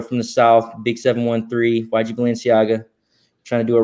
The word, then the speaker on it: YG Balenciaga: Just think of the designer brand Balenciaga, and then just add like YG in front of it. So YG Balenciaga.